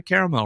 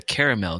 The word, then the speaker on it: caramel: You're a caramel guy, huh? Not a caramel guy? I've changed. I changed it because it started to bother me that there's an A in there that no one says.